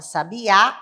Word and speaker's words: sabiá: da palavra sabe a a sílaba tônica da palavra sabiá é a última onde temos o acento agudo sabe a a sílaba